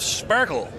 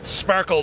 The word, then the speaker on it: Sparkle: and then we have Sparkle and it is sparkled not spark le you pronounce it Sparkle it has the full